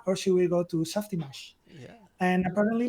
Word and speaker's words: Softimage: know how to pronounce it how do you pronounce oh I think it's Softimage Softimage okay as being I wasn't even in